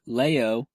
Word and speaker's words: leo: they add a why it still would have been pronounced lay oh it seems if you hadn't added Y but they added a